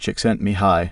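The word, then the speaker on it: Csikszentmihalyi: According to the Hungarian American psychologist Mihi C6 and Mahili pronounced chickent mihi, the biggest difference between climbing and say football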